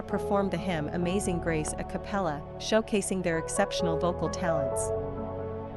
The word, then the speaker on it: a cappella: in this video the word is a capella a capella a capella a capella is an Italian term used in music to